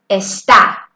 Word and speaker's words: está: Do you see that little tick on top of the A? That's the accent. Whenever we see that, let me remind you that we bring up that letter in the way we pronounce it. For instance, está, está. Listen how you're bringing up that A in your intonation.